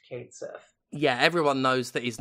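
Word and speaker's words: Cait Sith: Sith including not pretending like his name isn't pronounced katth yeah everyone knows that his name's pronounced tetus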